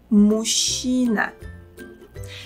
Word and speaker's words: мужчина: Notice that here we pronounce the sounds ж and ч as one long sound ш. Okay, now follow me and try to imitate my pronunciation. Мужчина. Мужчина.